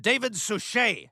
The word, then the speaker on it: David Suchet: played by Bob Denver it's pronounced David suchet who's that I'm gonna